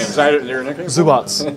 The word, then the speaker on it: Zubac: Zubats. No, Zubats. Yeah, I asked him. Like a TS.